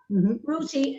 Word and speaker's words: Ruti: to be very clear this is not me not able to pronounce my th's but her name is spelled r-u-t-i rooty uh you were born